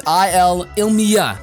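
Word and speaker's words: Ilima: We're just gonna say Ilma for now. We're just gonna say Ilma. It's Ilmia. There we go. It's Ilmia. So I've butchered a lot of shit, but please bear with me on that.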